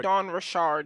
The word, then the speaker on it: Dawn Richard: It's It's actually Don Rashard. That's how she likes to have it pronounced.